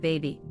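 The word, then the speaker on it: Bhabie: I was actually disappointed when I found out it was supposed to be said baby.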